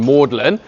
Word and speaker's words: Magdalene: he'd call his college Magdalene but then um insist on the ancient Latin pronun oh sorry the ancient French pronunciation mlin so you could sneak